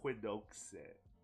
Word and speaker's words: Quixote: It's Don Quixote. Oh no, that's how you pronounce Quixote.